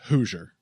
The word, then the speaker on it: Hoosier: That's pronounced Hoosier. Phil, please. Whatever. Hoosier. Oh, Hoosier? How'd you do? I'm from Indianapolis. I'm a Hoosier. Come on. Give me a fucking break. Hoosier. As in, who's your daddy?